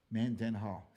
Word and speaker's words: Mendenhall: the multi-syllabic last names man den hall three syllables if you got three